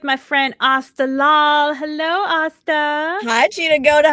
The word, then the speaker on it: Aastha: Hello, Asta. Hi, Cheetah Goda. How are you? And Asta loves to put the whole Asta rhymes with pasta in her, But you thing know below.